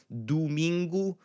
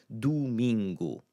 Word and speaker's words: domingo: Domingo, bu-NEE-tu. So in that first placement in a multisyllabic word, so let's say 3 or more syllables, you're largely going to get that U sound in that first syllable.